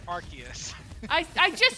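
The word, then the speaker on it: Arceus: Do you say Archus or Arus? Arus. All right. You're both wrong because in the anime they say Archus.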